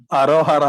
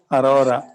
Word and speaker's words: Aurora: Arohara ಅಲ್ಲ ಕಣೋ. Aurora.